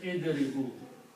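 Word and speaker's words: اضربوا: plural, then you say idribu. You add a wow and an alif, which is not recited. Alif is not pronounced.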